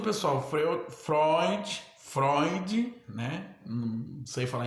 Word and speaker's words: Freud: que fala em eu vou falar froid tá bom se for frio de vocês vocês que sabe tá mas eu eu vou a minha pronúncia é essa tá bom segundo o pessoal foi Freud Freud né não sei